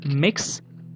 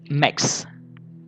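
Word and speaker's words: Mx: introduced is M X which is pronounced as mix or with a schwa that is mix now mix is a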